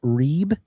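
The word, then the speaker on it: ריב: case against Strong's 7379, rib, and I think it's pronounced reeb, and it means a contest, personal or legal.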